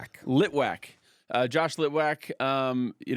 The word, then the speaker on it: Litwack: Litwac. Litwac.